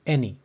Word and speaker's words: any: the sixth word is any the a in any sounds like the short e sound or E the symbols